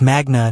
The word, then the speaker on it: Magna: You said Magnum Law, Harvard Law in your introduction, but you pronounced Magna wrong. Is Magna, not Magna? Latin stress patterns fall on the penultimate syllable when it contains a long vowel.